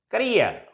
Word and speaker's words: career: Next is career. This is a disyllabic word, career, and it ends in ear, E-E-R.